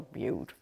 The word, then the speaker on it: Butte: My sister-in-law in Milwaukee called it the butt fire. I'm like, come on, they don't know how to pronounce Butte. In Wisconsin. She goes, I always thought it was really strange that it was the butt fire. I'm like, no. It's the Butte fire.